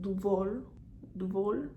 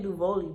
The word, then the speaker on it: Duvolle: doing a collab with duvor duvall i'm saying it fancy because honestly that's how i think it's pronounced i was saying duvoli but i was like nah luvoli can't be right so it's duval what are you okay